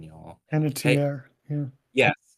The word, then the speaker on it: Panettiere: Was like Hayden Penny. I suck with pronunciation, y'all. Hey, Panettiere, yeah.